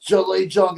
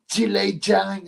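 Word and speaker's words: Zhilei Zhang: It's not pronounced Jolly Jong, it's Jile Jang.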